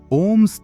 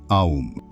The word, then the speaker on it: Om: Let's explore why Om's three components, A, U, are pronounced as Om, not Aum. In Sanskrit, a basic grammar rule called Sandhi combines the A and U sounds into a prolonged O sound.